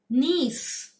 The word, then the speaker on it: gneiss: अब है नीस, स्पेलिंग है GNEISS, पर हम लोग इसको बोलेंगे नीस।